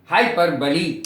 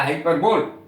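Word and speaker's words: hyperbole: करने को कहते हैं हाइपरबली या हाइपरबोल। हाइपरबोल गलत उच्चारण है, अतिशयोक्ति, किसी बात को बहुत बढ़ा चढ़ाकर कहना, हाइपरबली कहलाता है।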